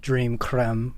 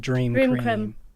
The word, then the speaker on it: Dream Creme: You don't pronounce it Dream Creme. You pronounce it Dream Cream.